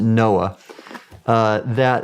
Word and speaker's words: NOAA: And so for example, when I was with the National Oceanic and Atmospheric Administration, we pronounced it NOAA, we had a program called the Ocean Exploration